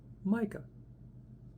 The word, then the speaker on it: Micke: So you pronounce that, if I'm doing it right, Micke. The Y is not missing.